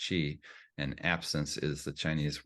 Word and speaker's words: Qi: as Chi so that Qi is pronounced Chi and absence is the